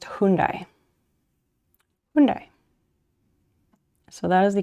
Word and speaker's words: Hyundai: what it was oh so in america they pronounce it wait how does america say it hyundai um and i've i've heard some people say hyundai which is very wrong um and i knew